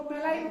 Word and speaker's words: malign: तो इसी तरह से मेलाइन है, MALIGN, मेलाइन, इसको मेलाइन पढ़ते हैं, यहाँ पे भी जी साइलेंट है।